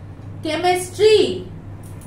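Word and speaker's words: chemistry: सकते हैं कैसे देखिए अगर हम लिखते हैं केमिस्ट्री आ रहा है सी सी लेकिन बोल क्या रहे हैं केमिस्ट्री सो यहां उच्चारण क्या आ रहा है क सी का उच्चारण क्या आया क लेकिन अगर हम य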